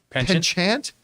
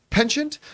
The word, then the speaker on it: penchant: has a pen I never know how to pronounce this word pension chant penchant penchant for experimentation Russo says uh there are questions